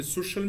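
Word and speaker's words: social: اي بيتنطق كانه اس لكن في الكلمات دي حرف السي جاي بعده حرف الاي ومنطقه كانها ش كانها اس اتش يعني كانها ش زي اس اتش بالانجلش ليه الكلمات دي تتنطق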